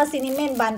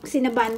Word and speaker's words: Cinnabon: เม้นท์ บัน ซิ่น ปั้น จริง ๆ ที่ ก็ บอก ว่า อ่าน ว่า ซีรีส์ บาน ปก ชอบ อ่าน ว่า ซีเมนต์ บ้าน จริง ๆ กับ อ่าน ผิด เขา เรียก ว่า ซิม นบัล โอเค ซินะ บาน เยี่ย เยี่ย บังเอิญ อะไร ก็